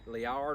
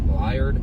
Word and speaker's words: Liard: the bridge here and i never can't say it right liard leer looks like the word lizard this beautiful place there's a